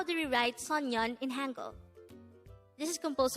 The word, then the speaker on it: 소년: we are going to study about the word sonyan let's start learn korean one word at the